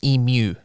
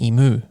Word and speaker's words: emu: My partner makes fun of me because here it's an emu. Uh-huh. The U is pronounced the same as in ambulance. Yep. But growing up, it was an emu. Moo is in the Yeah. noise a cow makes.